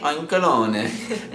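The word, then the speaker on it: Oinkologne: Oinkalone. Last video I pronounced it oinkalone. Like baloney.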